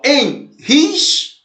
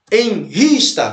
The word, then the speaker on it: enrista: Ó, enrista. Enrista. Então, olha aqui, ó. Separa, enris. Nessa palavra, ó, enrista. Qual que é a sílaba mais forte? Enris, né? É o ris, ó.